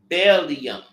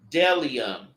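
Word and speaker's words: bdellium: There is Bellium. The B is silent. So it's Delium and the oxen stone.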